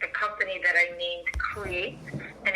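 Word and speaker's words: Cre8: Where I incorporate other artists is with a company that I named Create, and it's spelled as CRE with a number 8.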